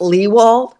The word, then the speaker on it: Lewald: right now uh it's it's pronounced Lee wall which rhymes with he called there's no way anyone would know just looking at the name okay Eric and Julia leewald all right I want